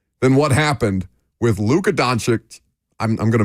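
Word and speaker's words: Dončić: say It come on it's very easy donic donic Luka Don I want to add an extra CH in there for some reason donic Luca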